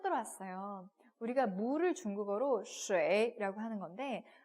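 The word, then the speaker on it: 水: 야, 중국어로 물이 쉐인데 왜 유아인데 슈이가 아니라 쉐이라고 발음을 해?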